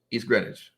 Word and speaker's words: East Greenwich: East Greenwich is what I say.